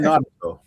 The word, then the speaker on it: Naruto: No, should have been Naruto. Okay, that's the big guy, right? Who? Naruto.